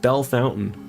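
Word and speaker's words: Bellefontaine: They also have Bell Fontaine, which should sound like Bella Fontaine, but they pronounce it Bell Fountain.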